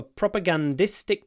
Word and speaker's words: propagandistic: propaganda it was for propagandistic purposes propagandistic propagandistic then the stress moves onto the E propaganda propagandistic propaganda propagandistic